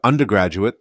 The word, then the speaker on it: undergraduate: When you say the full word undergraduate, the stress is usually in the middle, but when you shorten it to undergrad, the stress moves to the front.